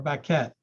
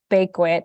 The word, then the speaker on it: Baquet: Elizabeth Baquet, or Baquette. I get pronunciations for some. They don't give me others. I would have gone with Baquet. That's okay. It's Bakewit. It's very Americanized.